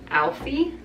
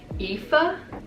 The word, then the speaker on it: Aoife: And I always pronounce her name Alfie, but I'm pretty sure it's pronounced Aoife. I don't know, that is